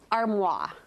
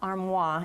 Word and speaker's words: armoire: I would say that armoire. Actually, it's not armoire, it's okay. armoire. Armoire. You do pronounce the R. There is an R.